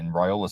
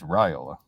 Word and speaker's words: Raiola: Jed, is it Raiola or Raiola? Because you're hearing both right now. I think it's Raiola. That's Okay.